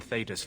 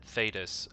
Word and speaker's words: Thedas: injustice that mages in Thedas face every day. See, you notice that he said Thedas. I'm gonna try better to pronounce that correctly. I have a bad habit of calling it Thedas, so yeah.